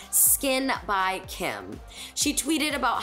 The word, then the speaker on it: SKKN: sold exclusively on the skin by kim website and you guys the skin is spelled s k k n and this is nothing